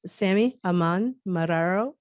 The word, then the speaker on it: Samí Haiman-Marrero: It's Sami Haiman-Marrero.